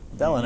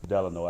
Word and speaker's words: Delano: beautiful city of Weiser Tipperary studio in the Delano or Delano exactly call Craig I was wondering about that yeah you you told me that the Delon have to dedicate two hours of learning a